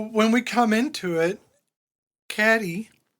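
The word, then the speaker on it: Cady: So when we come into it, Caddy or Katie if you want to say her name like you're nasty.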